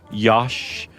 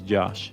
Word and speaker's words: Josh: Especially if you say it in other ways like Yosh or Hosh. Yeah. There's all sorts of ways you can say Josh, but really the only right way to say it is Josh.